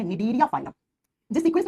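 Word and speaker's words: Cnidaria: दूसरा जो फाइलम होता है उसको लिखते है सी से प्रोनाउंस करते है तो एन से करते है निडरिया फाइलम।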